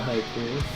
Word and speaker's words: haiku: That can be used in a haiku. Yes. Yes. I am a haiku. No. Haiku is also not said with an L at the end.